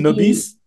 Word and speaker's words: Nobis: Alors on dit comment on dit non On dit, nobis, voilà, comme ça se prononce, comme ça se parfait, prononce.